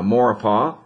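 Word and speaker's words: Maurepas: and i've learned how to say it now mauripah and lake pontchartrain especially on those north sides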